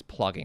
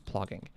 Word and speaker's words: plogging: Because I thought it was like flogging, but it's plogging. That's what it is. It's plogging.